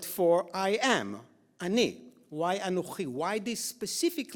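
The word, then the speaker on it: אָנֹכִי: It's not Ani, the word that we normally use. It's Anochi.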